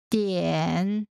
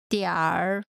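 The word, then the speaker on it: 点: Note, in North China, people tend to put an ER sound after the final syllable of many words. So in a northern accent, Dian. Would be pronounced as Diar.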